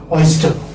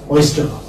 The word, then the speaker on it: oyster: Oyster. Oyster. As I told you earlier, that R is not pronounced.